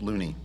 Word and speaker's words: Loney: Ollie Castle, and Sage Loney. Did I spell it wrong? Yeah, it's Loney though.